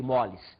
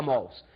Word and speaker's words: mols: Você vai ver que, hoje em dia, os professores falam número de mols. Nós, antigos, ainda falamos número de moles. Dizem que agora a pronúncia correta seria mols.